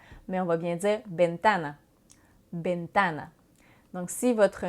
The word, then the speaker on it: ventana: v en français mais en espagnol lever se prononce comme un but donc c'est pourquoi on dira pas ventana mais on va bien dire ben thanh binh thanh donc si votre nom et valentin